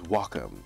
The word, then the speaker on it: Wacom: a wack Wacom Cintiq now I believe the proper way to say it is Wacom because it's a Japanese word I was told this